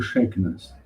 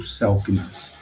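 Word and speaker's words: Selk'nam: Nós falamos dos incas, nós falamos dos maias, mas é muito raro quando alguém fala do shakennas, o selknas, né, para pronunciar mais corretamente.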